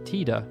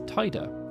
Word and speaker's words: Tidus: their own specific languages in english for example without any guidance it will be natural to pronounce tida as tida as it's a split digraph based around the letter